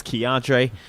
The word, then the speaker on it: Keontray: My name is Keontre. It's also my government. That's spelled KEONTRAY.